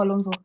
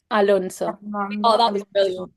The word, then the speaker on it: Alonso: not do it you it's like Fernando Alonso it's like it's not because you kind of pronounce the s's as zets like like if it it was a snake speaking yeah and it's Char